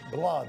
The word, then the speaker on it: blood: Blood. Blood. Acuérdate que el inglés no siempre se pronuncia. Ah, bueno. Aunque hay doble O.